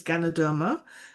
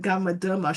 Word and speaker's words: Ganoderma: My mother used to call it Gamaderma. She couldn't pronounce it well at the time. And same here. Took me a couple of months to say it the right way.